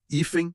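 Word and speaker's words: hífen: No singular, ifen tem acento. Por quê? A tônica tá na penúltima sílaba.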